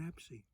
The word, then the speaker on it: abscess: was spelt differently and we all Anglicise it to 'abscess' but the Suffolk people kept it the same pronunciation as the Normans by saying 'absy' 'Frawn' - very cold,